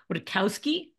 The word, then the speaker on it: Wojtkowski: Today, I'm joined by Brian Nelson and Wojtkowski.